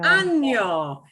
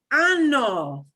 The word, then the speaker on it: año: There is a word without the nya sound, which is identical, except instead of a nya, it's just a n. You never want to pronounce año as this word, ano.